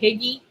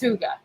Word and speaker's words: Hyuga: to pronounce it but I used to call it higgy it's hyuga how did the Joe explain